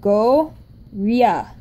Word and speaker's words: Goryeo: In Hangeul, it's the G and then the O sound. And then it's the R sound and then the Y sound. So together it's go, ria.